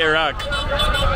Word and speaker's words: Iraq: How do you say Iraq? Iraq. Iraq. It's the Ain. It's hard to say the Iraq correctly. Like, I'm not saying it correctly. It's like, Iraq, Iraq.